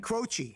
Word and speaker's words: Croce: This is, you say his name for me, Jim Croce.